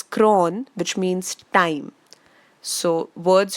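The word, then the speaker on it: chron: chrome which means color CH r o n is pronounced as cron which means time so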